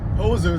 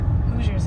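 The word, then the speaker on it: Hoosiers: interesting very nice I I was calling people in Indiana whoers before but I told the correction is how you say it hoers hoers okay so we're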